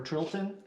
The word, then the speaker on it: Tilton: The Tilton or Trilton, I don't know how to say it. It'd be Tilton. Yeah, it's Tilton. Yep.